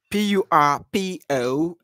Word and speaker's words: purpose: PURPOSE.